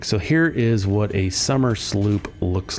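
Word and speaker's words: Somersloop: out real quick so here is what a summer Sloop looks like and it's pronounced s it's spelled s o m e r s l o o p summer Sloop and there's a reason a very good reason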